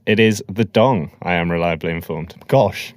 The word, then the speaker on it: dong: not the dollar Vietnam dollar no almost first syllables right I don't know Darren no it's it is the dong I am reliably informed gosh this is news